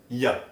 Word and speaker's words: y a: En français familier ou à l'oral, on peut simplement prononcer y a.